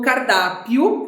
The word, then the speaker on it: cardápio: Por que cardápio tem acento? Muito fácil, ó. Cardápio. A gente separa dessa maneira. Qual é a sílaba mais forte? É o da. Se é o da, paroxítona.